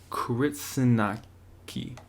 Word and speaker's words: Kritsinaka: right let's so let's get cracking crits anak crits anak key yeah I said it right the first time